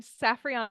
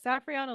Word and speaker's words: Safrianna: bit challenging so I'm saffana I always people it's saf like Sapphire Rihanna like the singer and then like the moon so saf Rihanna and I go